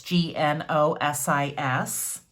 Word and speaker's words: Gnosis: I don't even know how to pronounce that. I believe it may be Gnosis, but I'm not sure. It's Gnosis.